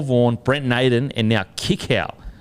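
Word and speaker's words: Kikau: brent naden and now kick out oh sorry it's kiko it's kiko apparently it does in the comment section well that's what he said he said it's kicko and stop saying his name wrong we've also got uh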